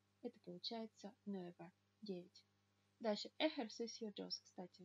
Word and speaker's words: ejercicio: Дальше ejercicio dos, кстати, вот эта буква, вторая в слове ejercicio, она называется hocha и читается всегда как х.